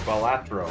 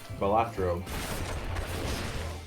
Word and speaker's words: Balatro: Or Balatro, I'm pronouncing it wrong. I'm putting the T before the A. Balatro.